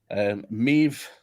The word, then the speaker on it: Maeve: Maeve, who rhymes with Dave, has a few tests in the wild with pure AI and edited.